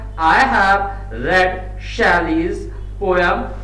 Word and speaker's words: Shelley: शैले के लिए आ रहा है। तो हु और शैले जो है, जो शैले, कुछ बच्चे इसको शैले नहीं शैली प्रोनाउंस करते हैं, तो यहां पर हु